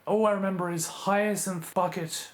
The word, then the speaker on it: Bucket: My nan used to watch this show, and all I remember is Hyacinth Bucket. She pronounces it bouquet. But it's spelt bucket.